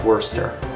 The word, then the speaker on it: Worcester: It's not like trying to pronounce this , yes, that's pronounced "Wurster".